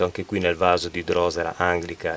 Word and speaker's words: drosera: stato abituato così, poi ho scoperto che si dice drosera, però abbiate pazienza, la